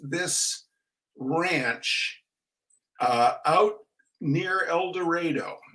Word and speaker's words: El Dorado: Ranch uh out near eloro it's spelled El Dorado but they say eloro uh not out near